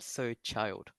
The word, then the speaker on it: child: Try to pronounce the D sound a bit more.